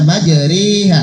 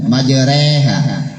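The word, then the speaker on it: مجراها: Tulisannya majroha, dibaca majriha. Sate guli kayak gitu. Ya. Jangan baca biasanya kan majreha. Tapi dibaca majriha. Bacaan imalah fathah ra condong pada kasrah.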